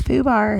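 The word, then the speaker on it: FUBAR: It's Foo bar.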